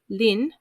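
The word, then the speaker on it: 林: rest which is pronounced sioux forest which is pronounced lin pond which is also pronounced lin and i'm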